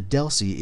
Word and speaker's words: DLCI: future lessons so the deli is the layer 2 address that frame really uses it's a 10bit um data link connection identifier dlci pronounced Deli they're locally significant we